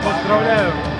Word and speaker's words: Поздравляю: Поздравляю.